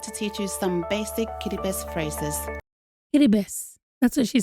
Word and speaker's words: Kiribati: So maybe that's just the way they say the language in Kiribati is, and I guess it should be Kiribati because the R's are being pronounced like they do when you're speaking Spanish and probably other languages.